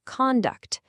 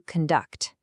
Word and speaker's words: conduct: Your behavior is your conduct, but to lead an orchestra is to conduct.